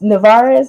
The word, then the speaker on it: Nevarez: everybody's screen right Miss Aisha Morrison Miss Jess narez did I pronounce that right nailed it put on my